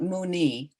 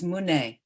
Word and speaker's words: muni: Taya ta om muni, and it's not muni, even though it's spelled that way. The I should really be an E, It's Mune, Mune, Mune, Maha Munaye, Soha.